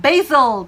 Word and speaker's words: basil: 영국에서는 basil 이렇게 더 많이 발음하는 걸 들을 수 있다라는 얘기입니다. 자, 어쨌든 두 경우 또 우리가 다 듣고 우리가 얘기하는 그 바질이구나로 알아들어야겠죠. 자, 먼저 미국 발음의 basil 들어볼까요?